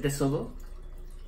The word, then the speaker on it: tesoro: Is it tesoro? Un tesoro. Tesoro. Tesoro? Tesoro. Tesoro? Is treasure. Was it TH? I can't understand te. You. Te. Tesoro. Tesoro. Yeah. Tesoro. You're putting the accent on the wrong O.